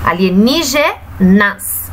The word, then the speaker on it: alienígenas: Então, agora, nós vamos identificar que a sílaba tônica da palavra alienígenas é a sílaba ni.